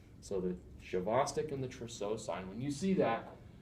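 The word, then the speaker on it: Trousseau: spasms the other sign is known as the tro sign tro sign and that I believe that's t r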